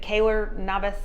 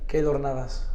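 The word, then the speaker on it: Keylor Navas: goalies that you probably watched um is it Kaylor Navas how do you say his name Kaylor Navas yeah that sounds way better um of Costa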